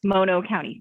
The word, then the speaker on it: Mono County: She is the director for the Mono County Behavioral Health Department, and she has taught me that this is how you say Mono County.